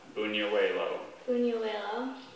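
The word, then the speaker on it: buñuelo: please it's from spanish are there any other pronunciations there's just the one bunier huelo moving your way though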